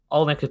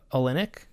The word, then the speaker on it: Olynyk: And Olynyk plays a big part in that.